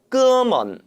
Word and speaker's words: 哥们: 哥们 이 哥们은 북방에서는 통상 어를 붙여서 哥们이라고 표현합니다. 哥们 또는 哥们 어느 쪽으로 발음해도 문제는 없죠.